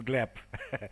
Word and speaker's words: Gleb: I know that uh my first name usually makes uh problems with pronunciation for English people but you did it correctly my name is glep so if most cases